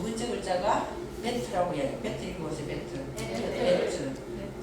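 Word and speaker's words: בית: 그래서 두 번째 글자가 베트라고 해요. 베트 이거 보세요. 베트. 배트맨이 아니고 베트 이 글자를 이렇게 써요.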